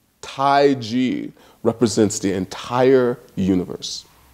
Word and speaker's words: taiji: example in taiji and I pronounce it different than most people are used to hearing it because the Europeans wrote it Tai Chi because they couldn't hear this so it's taiji and and it just